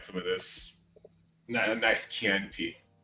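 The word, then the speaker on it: Chianti: At least you didn't pronounce it scient.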